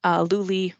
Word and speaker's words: Luli: Luli rhymes with Julie if it helps you.